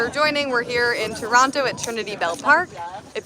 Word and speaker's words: Toronto: joining, we're here in Toronto at Trinity Bell Park. If you're in Toronto, please come through. Or if you're a Torontonian, you'd say Toronto. I say Toronto.